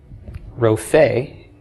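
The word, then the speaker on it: רופא: That noun is spelled resh, pei, aleph, a cholam between the resh and pei, and a tsera under the pei, Rophe.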